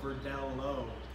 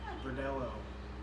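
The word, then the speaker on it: Verdelho: And that one's spelled with a L-H-O, Verdelo, Verdelo.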